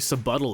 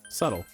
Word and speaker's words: subtle: poor girl not very subuttle of you oh hey what you brought it up wait what what did you say subtle did you think the word subtle is pronounced subuttle kanji's got a sub buddle